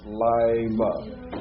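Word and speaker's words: לילה: Now that shava under the yod is silent, but if you're not careful, you'll make it vocalized because of the yod, because it's hard to come out of the yod to the lamed. So it's Lila.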